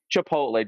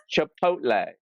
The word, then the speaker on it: Chipotle: they got good management you pronounced that wrong do it again if it's us again Chipotle okay finally that's how you pronounce it because I love